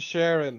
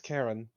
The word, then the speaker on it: Charon: It's not said Sharon. Or it's okay. How do you pronounce the River Styx guy? It's Karen. Karen. Charon. It's that. It's yeah. The ch is pronounced like k.